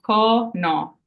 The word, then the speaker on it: cono: at the end okay next we have o which is also o so for example con that has two o's in it so it's that a sound Co no and cono means cone like an ice cream cone and last we have